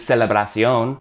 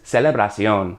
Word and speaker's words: celebración: Celebration in Spanish is celebración, TION to CION with an accent on the O, but other than that, those are the same words. Celebration is celebración.